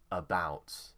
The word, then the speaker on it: about: kun taken next word the stress is on bout so it will be about uh about here the